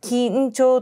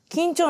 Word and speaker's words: 金武町: 80 年代に沖縄の緊張金に武士の部と書いて町と書いて緊張というらしいんですけど緊張